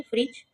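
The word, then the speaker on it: fridge: फ्रिज, फ्रिज, इसमें डी, दोनों में डी जो है वो साइलेंट है।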